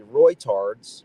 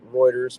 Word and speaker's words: Reuters: which happened to be Reuters. Some people pronounce it Reuters, but I think it's pronounced Reuters. That would be the more accurate pronunciation.